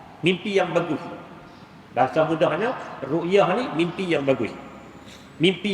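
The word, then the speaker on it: رؤية: Yang pertama disebut dengan ru'yah, bukan ruqyah, ru'yah. Dengan kalau ejaan Arabnya ra hamzah ayata, ru'yah.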